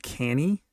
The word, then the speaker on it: Cannae: And this was at the Battle of, it's pronounced Canny, but it is spelled Battle of, it's like Cannae or something. Yeah, Battle of Cannae, Battle of the Second Punic War.